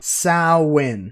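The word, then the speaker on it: Samhain: this name all right say it with me everyone sow win yep that is really how you say it and I'll have you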